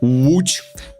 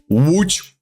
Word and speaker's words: łódź: And the Polish L makes a W sound. W. So yeah, like łódź, you have boat in English. Like for example, yeah, we have boat. How do you say this in Polish? Łódź. So you have w, you have the o with the dash, d, and then z. Yeah, łódź. Here we go.